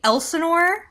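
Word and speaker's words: Elsinore: a wonderful event this weekend uh in Lake Elenor California y nailed it yes thank you I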